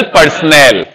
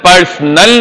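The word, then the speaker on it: personal: केएमपी की managerial पर्सनल. पर्सोनल नहीं होता, पर्सनल नहीं होता, पर्सनल होता है.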